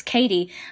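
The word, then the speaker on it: Cady: because everyone's like yeah your name's caddy and she's like oh no it's Katie like that's that I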